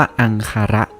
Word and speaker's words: อังคาระ: นั่น เอง ภาษา บาลี สันสกฤต เนี่ย อ่าน ว่า อังคาระ แปล ว่า ถาด ซึ่ง